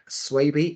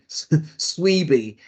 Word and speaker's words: Swaby: You know, if we're talking about language, my surname is pronounced Swaby, S for sugar, W, A, B for Bravo, Y. I have been called everything but Swaby, Sweeby.